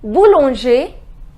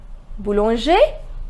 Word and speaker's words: Boulanger: bakery Bowl on Jay the pronunciation is bull on Jay ending with er bull on share Boulanger Boulanger the next test cook